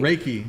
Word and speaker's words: Reiki: Raiki. Raiki.